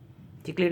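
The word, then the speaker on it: cichlid: एक बहुत बड़ी फैमिली है, चिकलिड भी कहते हैं, सिकलिड भी कहते हैं, लेकिन साइंटिफिकली जो हम लोग जो पढ़ते हैं वो चिकलिड पढ़ते हैं, हम सिकलिड नहीं पढ़ते। कुछ जगह पे सिकलिड भी प्रोनाउंसिएशन है।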